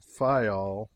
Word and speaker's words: Fayal: People there pronounce it Fayal, and put the accent on the first syllable.